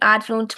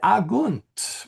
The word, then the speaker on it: agunt: Quid adjunt Marcus et Quintus. Oh, okay. I thought I heard something else. Yeah, that's right. It's a hard G.